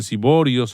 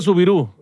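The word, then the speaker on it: Soubirous: La niña se llamaba Bernadette Sauvirius, Siborius, algunos lo pronuncian Siborius, otros lo pronuncian Sauvirius. Repetimos, yo no hablo francés. Entonces se escribe S-O-U-B larga I-R-O-U-S, Siborius o Siborous. El coordinador nos... Subiru, se pronuncia Subirú.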